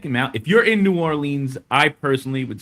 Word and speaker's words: New Orleans: That's how we say it. Any other way is wrong. New Orleans.